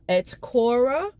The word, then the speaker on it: Atakora: In this book talk, I am going to discuss Conjure Women by Afia Atakora. I believe is how we pronounce her last name.